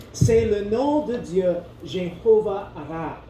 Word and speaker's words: Jéhovah-Raah: le nom de Dieu, Jéhovah Ra. C'est Jéhovah et ensuite Ra, ça s'écrit R-A-A-H.